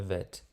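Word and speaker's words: ב: Então, se nós temos esse pontinho aí no meio, nós vamos pronunciar bet. Se não temos o pontinho, a pronúncia é vet.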